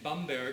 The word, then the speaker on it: Bamberg: at and I was born in Bamberg who used the proper German pronunciation a beautiful city in